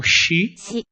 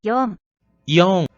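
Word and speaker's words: 四: Então, o número 4 vai ser pronunciado como shi ou yon. Yon. Então, ele tem duas pronúncias para o número 4.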